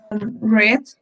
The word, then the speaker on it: read: participle or read so what's the correct pronunciation party red red yes the novel was read